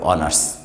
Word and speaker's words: honors: Here the student getting the word beginning with H, but here the pronunciation of H is silent, and all of us